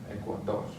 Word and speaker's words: Ecuador: And finally ends with an R, so we're going to stress the last syllable, Ecuador.